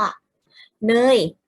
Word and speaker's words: เนย: สังเกต เป็น สิ คะ เนย อ่าน ว่า น้อ เออ เรื่อง ย่อ เธอ ไม่ ใช่ น้อ โโย เหนื่อย ไม่ ได้ เขา ต้อง เป็น นอ น อ่ะ เออ รอ เลย สะเอว ตรง นี้ จะ เป็น สระ เออ ถ้า มี ย ยักษ์